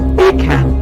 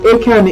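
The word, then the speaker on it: Achan: you in joshua 7 about the story of akan akan is spelt a-c-h-a-n a-c-h-a-n and he's telling the story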